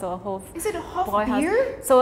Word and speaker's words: Hofbräuhaus: You see the A with the 2 dots, right? In German, it's an E. We pronounce it like E. Hofbräuhaus? So you would think it's pronounced like this. It's more like Hofbräuhaus. Hofbräuhaus. It must be because the U going with it changes.